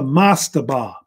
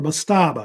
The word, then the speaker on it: mastaba: The oldest type of tomb that the Egyptians built was called a mastaba. or mastaba. It's pronounced either way, I believe.